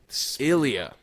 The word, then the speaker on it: Ilya: Ice Dranzer helped us with the pronunciation. It's Ilya.